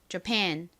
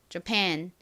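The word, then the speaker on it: Japan: 나라인가요 일본을 의미하는 단어이자 발음해 보겠습니다이 뒷부분에 강세가 있어요 그래서 팬이 아니라 jan jan 이렇게 발음을 해 주셔야 됩니다이 A 강세를 받지 못하고 뒤에 강세가 있다 보니 애매하게 어어 소리가 나는 거죠 자 발음해 볼게요 jan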